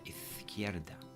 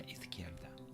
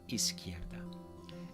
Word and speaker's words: izquierda: But if you don't like the look of it, it doesn't really matter, because just remember that the Z is pronounced like a TH. So, a la izquierda, a la izquierda.